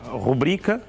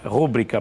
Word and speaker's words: rubrica: que é a palavra rubrica, não é? Rúbrica, portanto, não existe. Rubrica é uma palavra grave e, para todos os efeitos, a sílaba tónica é bri.